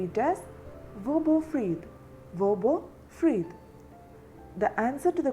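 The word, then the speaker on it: hvor: In Danish we can ask the question like vodu. Vu. Where is the question word here. So in Danish we can pronounce where. The word can be translated as vo. H v o r. war.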